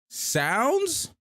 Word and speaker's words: sndz: sounds that's actually dope sounds sndz is pronounced like sounds that's dope I'm a